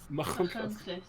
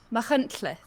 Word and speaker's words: Machynlleth: Machynlleth. Machynlleth. So the ch is like we say bach, and the ll is like at the back of your tongue.